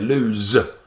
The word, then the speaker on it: lose: quite homophobic very close you pronounce them slightly differently you like to say the second one is it's like a zed lose but then loose loose